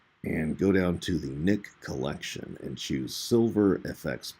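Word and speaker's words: Nik: That's spelled N-I-K, Nick, as in I have a nick in my face.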